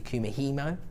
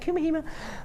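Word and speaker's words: Kumihimo: use these within your Kuma hemo disc or something like that I better pronounced that wrong is that right kumihima that's how they say it in the office all the time if gc73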